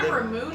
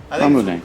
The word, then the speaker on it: Ramune: So Rumune is, John, when I was in, Is it Ramoon or Ramune? I don't, Ramoon, probably? Ramune.